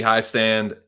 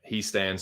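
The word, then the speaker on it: Hiestand: Whatever if it's a German last name, and it's an I and an E, you pronounce the second letter. So if it was HEI, it would be high stand, but it's HIE, so it's he stand.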